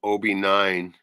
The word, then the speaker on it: Obi9: The artist is called Obi9, Obi like Obi-Wan, Obi9, and the album is Integral Mashups.